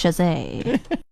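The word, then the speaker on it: Chasez: anything for anyone because nobody knows how to say his last name but if you ever are in a trivia it's Jose we got Obi in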